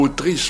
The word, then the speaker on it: autrice: Certes, le mot autrice prononcé à la française est très il rime avec motrice.